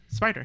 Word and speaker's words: SP//DR: It's Spider, just Spider. Oh, just Spider. But it was spelled different. It was spelled with the Y, right? SP//DR.